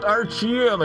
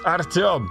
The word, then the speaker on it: Artyom: They couldn't pronounce Artyom. They're like, Artyom. It's not Artyom, it's Artyom.